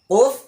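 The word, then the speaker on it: ق: কোফ উচ্চারণ করার সময় জিহ্বার ঘোড়া, জিহ্বার গোড়া তার বরাবর উপরে তালুর সঙ্গে লাগাইয়া, জিহ্বার গোড়া গিয়ে উপরে তালুর সঙ্গে লাগবে। কোফ কোফ কোফ।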